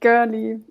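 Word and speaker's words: Görli: Yeah, it's pronounced Goerli. I think they participated in the ETH Berlin hackathon some years ago. I'm not sure which year it was. And they called it Goerli after like a park and a station that is in Berlin. So yeah, usually you would spell it with the O with the two dots on top, like U.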